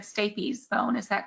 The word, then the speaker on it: stapes: Thank you for correcting my mispronunciation as well of this. You said stapes bone, is that correct?